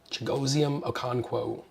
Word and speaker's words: Chigoziem Okonkwo: Chigoziem Okonkwo.